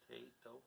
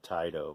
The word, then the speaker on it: Taito: That's how you say it, Tato. Yes. I think I always said Taito, but I think it's wrong.